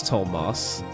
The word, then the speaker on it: Tomas: That's the reason I'm calling him Tomas cuz I'm going by the Three Houses pronunciation. Tomas. Yeah, that's how I'm saying it. It is Tomas.